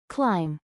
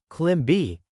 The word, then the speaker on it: climb: Notice, the letter B at the end is silent. Not climb B, just climb.